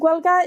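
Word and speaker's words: Gaeilge: way what's guelka oh guelga is i'm slightly mispronouncing it it's the way that my grandmother pronounced it to me when i was a kid it's irish spell g-a-e-l-i-g-e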